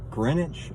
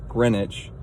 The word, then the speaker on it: Greenwich: Today, we are headed out to Greenwich, Ohio. That's how that's pronounced. It's literally spelled like green witch. Uh, and then that makes me think of sandwich, but it is Greenwich.